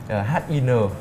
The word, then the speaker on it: HIN: Dưới 1 triệu phổ thì mình sẽ recommend đó chính là chiếc FFP HIN 500W này. Đọc là HIN nữa. Đọc là HIN được.